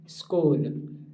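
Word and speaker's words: school: वो साइलेंट हो जाता है या फिर उसका उच्चारण ही चेंज हो जाता है इवर्स लाइफ सबसे most common स्कूल एस सी H double O एल स्कूल स्कूल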